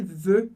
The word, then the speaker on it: veux: E talvez você tenha se perguntado, Felipe, por que esse veux eu pronuncio como e? É parecido com je, eu não falo x do final. O x do final, como regra geral, a gente não lê, assim como S, assim